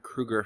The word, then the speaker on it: Kroeger: But, of course, in classic Chad Kroeger fashion, apparently that's how you pronounce his last name, I'm just learning this now, has managed to fuck up again.